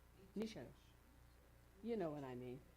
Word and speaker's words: Nietzsche: The next one is, and I don't know if I say his name properly, but it's Friedrich Nietzsche. Nisha.